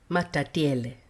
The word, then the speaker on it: Matatiele: Matatiele. That's how you say it, matatiele.